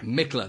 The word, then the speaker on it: Michler: Is that how I pronounce it right? The surname? Actually, Michler. Michler. Michler, there we go, Michler.